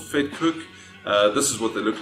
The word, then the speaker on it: Vetkoek: looking at south african street food it's called fed cook this is what they look like okay so it's called fake cook this is how you spell it and pronounce